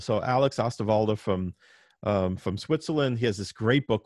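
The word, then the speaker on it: Osterwalder: model generation by alex astavalda that's o-s-t-e-r-w-a-l-d-e-r um i guess it's spelled oster walder but he said he pronounced it ostavalda so alex ostavalda from from switzerland he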